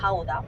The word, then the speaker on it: Gouda: Entonces explicaba el queso Gouda, que no se dice Gouda o Gouda, es Gouda. Si duele la garganta, es ahí, está bien dicho.